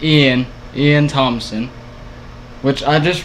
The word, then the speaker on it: Iean: me behind the dumpster but his name is lean like codin it's Ian Ian Thompson which I just realized earlier if